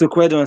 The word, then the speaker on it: Ukweduan: You didn't murder my name, and I'm surprised you were able to pronounce the name. We from Edo State, we have some kind of funny names that people find hard to pronounce. It's Ukweduan, and you did fine.